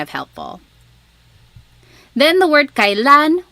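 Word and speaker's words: kailan: Then the word kalan when you might hear some people say kalan sounds like an e but it's technically spelled with an ai.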